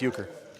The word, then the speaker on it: euchre: I don't even know how to pronounce that one. What Joseph say there? You see that? That's euchre.